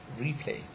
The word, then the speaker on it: replay: a prefix v okay replay so the stress falls on the prefix as it has got long one re okay so here in this word this prefix read has got the stress primary stress yeah okay and there is